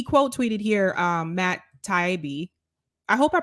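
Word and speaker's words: Taibbi: last name correctly but matt taibi i think is how it's pronounced so matt said i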